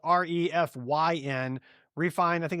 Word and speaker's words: Refyn: It's the Refine. So it's spelled REFYN. Refine.